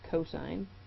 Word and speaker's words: cos: is cosine of a abbreviated as cost but pronounced cosine and this is the adjacent side divided by